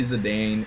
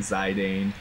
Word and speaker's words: Zidane: Like I said, I'll say Zedane and Zidane. Uh I don't really say Zidon unless I am talking about the football player.